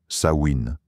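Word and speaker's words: Samhain: Il célébrait à la fin du mois d'octobre une fête appelée Samhein prononcée Sain qui marquait la fin de l'été et le début de la saison sombre.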